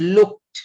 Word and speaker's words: looked: the the word is looked not looked don't put that ed into that so just put looked